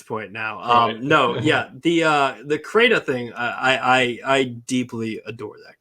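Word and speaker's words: Crayta: So, but now another game that I noticed that you like from Stadia is Crata. That's how you pronounce it? Yeah, Crata.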